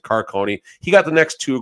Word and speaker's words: Carcone: car it's not Caron it's carcone I believe coyot fans I'm sure a few of you are watching today feel free to drag me if I said that wrong I think they they pronounce it Carone he got the next